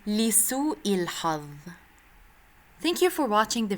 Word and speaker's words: لسوء الحظ: لسوء الحظ, unfortunately. In عامية you can say the ظ sound sometimes as ذا. In فصحى we say لسوء الحظ.